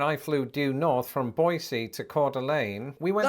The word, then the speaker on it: Boise: at the airport in boisey also if you're wondering why I'm pronouncing it boisey instead of Boise that's how the locals told me to say it so if they lied